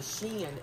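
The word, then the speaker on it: SHEIN: seven minutes okay so the sheen is spelt like this s-h-e-i-n um i did the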